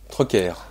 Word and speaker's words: Troquer: Troquer. C'est le côté breton, on prononce donc le R.